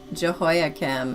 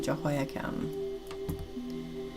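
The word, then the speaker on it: Jehoiakim: Jehoakim. And you are correct. And it's spelled J E H O I A K I M. Jehoakim.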